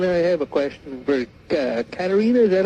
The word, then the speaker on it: Katarina: And I have a question for Katarina.